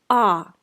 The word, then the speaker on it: о: We write о, but we pronounce а.